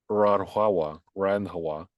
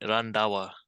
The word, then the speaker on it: Randhawa: And so we have Nimrata Nikki Randhawa.